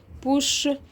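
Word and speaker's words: bouche: مين تاني اخرها او مش بنطقها؟ بوش بوش بوش. الاو دي برضو مش هنطقها.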